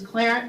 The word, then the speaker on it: Qlarant: to this organization clarence the easiest way to remember how to pronounce it is clarence rhymes with parent so hopefully that that